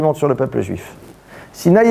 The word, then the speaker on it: Sinaï: Sinaï et Sina s'écrivent de deux manières différentes, mais se prononcent de la même manière.